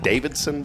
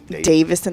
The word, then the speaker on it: Davison: Is it Davidson Bryce or Davison? Davison. There's no. It's not. Harley Davidson. Yeah. There's no second D. So Your it's husband's just last name is Davison.